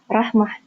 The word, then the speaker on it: Rahma: So, Miss Rama, do I have to pronounce the H there in the name? Is it Rahma or something? Yes, I think. Rahma. Ah, okay. Yeah, it comes from Arabic. Okay, so it's... Okay, so there is like some kind of throat sound, right? Like Rahma or something? Yeah, Rahmah. Perfect, okay.